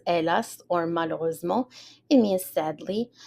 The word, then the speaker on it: hélas: matin-là, on that morning, hélas, so the H is silent, hélas, or malheureusement, it means